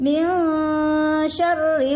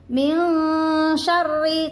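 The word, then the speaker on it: مِنْ شَرِّ: Min syarri ma khalaq. Min syarri cetha. Nggih, banyak yang membacanya kurang cetha itu. Min syarri dengung, ra juga rae cetha, ada harokat tasdid.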